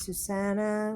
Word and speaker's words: Susanna: put your name here my name's Susanna we just rhyme with Madonna I love this book